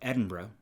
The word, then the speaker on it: Edinburgh: of scotland yes yes um talking about the pronunciation of edinburgh and see how it just rolls off your